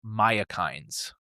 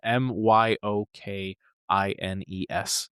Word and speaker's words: myokines: these specific proteins called myokines. I'm I think that's how you say it. It's spelled m y o k i n e s.